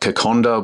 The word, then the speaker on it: Kokoda: they've got like Kokonda, which is it's spelt Kokoda, but Kokonda's their sort of national dish.